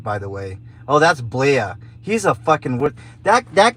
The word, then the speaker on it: Blea: blee the fleet because his name is spelled b-l-e-a it's blea but uh it's spelled like flea right so i'm like bleed